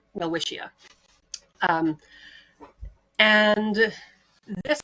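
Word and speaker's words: Welwitschia: general right so well whia uh is spelled w l w t s c h i a well wisha um and this like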